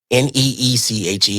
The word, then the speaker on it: niche: Okay, well, Neeche. It's not the way you spell it. Good. That's how you should say it.